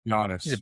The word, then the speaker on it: Giannis: I'm a Greek, so I like Janice Ateno. I hope I pronounced his name correctly. It's very long, but Janice, the Greek freak and the Milwaukee Bucks. Giannis. Yeah, Giannis.